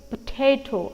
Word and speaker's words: potato: a potato it's potato potato I'm stressing on the second syllable here right likewise each and